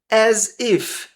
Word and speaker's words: as if: As if as if com um som de Z as if as if